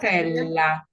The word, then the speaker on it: Sfogliatella: Is that one the dessert, the sfogliatella? Sfogliatella.